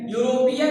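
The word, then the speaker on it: European: उसी तरह से यूरोपियन, यूरोपियन में ई है, लेकिन इसका भी उच्चारण य से हो रहा है।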